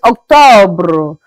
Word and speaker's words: October: October is Octobre.